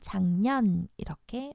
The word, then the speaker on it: 작년: 없어요 여기는 기억이 줘 자 변 이지만 우리는 작년 이렇게 발음을 합니다 10만원 마찬가지죠 10 만원이 아니라 100,000원 이런식으로